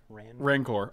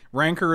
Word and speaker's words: Rancor: feel good rancor rama how do you say it ronco rancor i say rancor rancor ranker is another way to say it rancor uh that